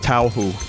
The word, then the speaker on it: Touhou: Then it's pronounced Touhou.